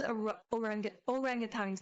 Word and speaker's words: orangutan: It's orangutans, not orang.